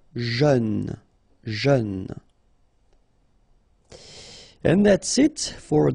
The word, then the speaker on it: jeune: Final E not pronounced. But then EU together. E. Jeune.